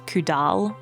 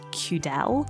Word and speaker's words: Cudal: I was pronouncing this place as Cudal, but it's Cudal.